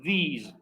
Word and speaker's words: these: En el primero, hagan como una i cortita. This, this, this. Y en el segundo se hace una i más larga. These, these. Y al final la S es como una vibración. These, z, these are.